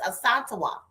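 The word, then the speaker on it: Asantewa: school with me and her name um it's a S A N T E W A, right? Um and so I didn't know how to say it, honey. All right. And so when she said it to me, I thought, "Oh my goodness, this is so pretty." As is her name is Asantoa.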